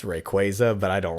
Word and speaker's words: Rayquaza: if you need to oh rayquaza that's how i say it but he's based off of a quasar so a lot of people say rayquaza oh okay i can